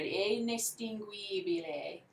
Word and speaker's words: indistinguibile: Indistinguibile. So it sounds more like an A.